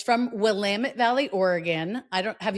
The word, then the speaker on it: Willamette: Everybody mispronounce it as Willamette, Uh but huh. out there, everybody's got T-shirts and signs that say it's Willamette. Damn it!